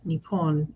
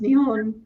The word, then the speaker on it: Nihon: So the Japanese names for Japan are both Nippon and Nihon. I didn't know that either. I've been learning like when you get your language learning for the week and it says that Japan is pronounced Nihon in Japanese, I don't question it.